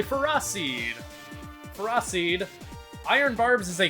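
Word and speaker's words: Ferroseed: ] this guy pharah i almost said pharisee but that's not the pronunciation it is canonically ferocide proceed iron barbs is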